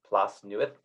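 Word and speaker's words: Plas Newydd: uh Mansion um further down manai straight called plus newest so the only one thing I remember about Welsh language is when you see 2DS it's pronounced th so that's plus new it um the Welsh language is extremely difficult to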